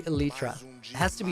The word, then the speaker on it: elytra: You know that huge debate about how to pronounce... Well, it's elytra. I literally went and looked it up. So, I feel like Minecraft community is split down the middle. I don't know why, but it's literally elytra.